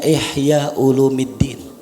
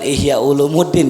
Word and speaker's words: Ihya Ulumiddin: Disuruh baca kitab namanya Ihya ulumiddin tahu Ihya ulumiddin bukan Ihya Ulumuddin ya itu kalau orang bilang baca Ihya cara bacanya keliru yang betul Ihya ulumidin itu hadirin sebelum pasukan